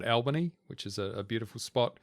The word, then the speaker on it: Albany: What an interesting pronunciation of Albany. Oh, it's Albany, mate. We're in WA now. Is it? Yeah. Ah. We always know when you're not from WA when you call it Albany because we call it Albany.